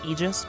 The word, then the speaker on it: Aegis: the Aegis shield, or if you want to pron it pronounce it correctly, it's Aegis. But, you know, we're going to call it Aegis cuz it sounds way cooler.